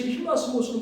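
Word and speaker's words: ἱλασμός: 그래서 필라데 그걸 이제 연하게 발음하면은 이제 그 힐라 이렇게 되거든요. 힐라. 그다음에 스모 스모가 스모 선수 있잖아요. 그래서 이제 아 스모 선수 일본 스모 선수가 이제 휠라 이제 그 어 그이 저기 운동복을 입고 나갔다고 생각하면 됩니다.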